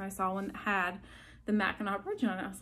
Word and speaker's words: Mackinac: oh yeah i'd like the one with the mackinac bridge and the the gentleman looked at me he's like it's actually pronounced mackinaw welcome to michigan i was like okay cool